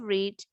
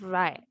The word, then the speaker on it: read: The verb to of read is read. Same writing, different pronunciation.